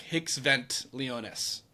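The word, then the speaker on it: hic sunt leones: they would put in the Latin it's uh it's it's spelled uh h i c s v n t l e o n so it's like hicks vent leonus which means here be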